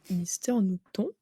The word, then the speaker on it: Mister Nooton: Donc, pour le métier de youtubeur, Oui, Mister Newton, c'est ça? Je le c'est prononce ça.